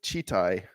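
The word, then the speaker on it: Читай: The word is pronounced as Chitai. Chitai. Wow. Chitai Gorod. Kitai.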